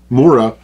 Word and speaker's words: Mora: So that is about all I can say right now about Mora knives. And yeah, that is the correct pronunciation.